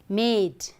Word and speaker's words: made: So now if we change this, M-A-D plus E, okay, that is silent E, okay. So what do we get? Is the pronunciation same as mad? Yes? Consonant, vowel, consonant plus E, okay. So this is an example of long vowel sound, okay, made.